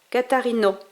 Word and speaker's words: Catarina: Voilà, par exemple le A à la fin d'un mot se lit comme O ouvert de robe. Catarino.